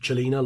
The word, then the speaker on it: Cellina: So, without further ado, this is the MKM Cellina, pronounced Cellina like cello, as told to me by Slick.